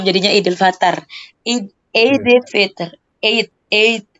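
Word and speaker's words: عید: Eid. Jadi bacanya Eid.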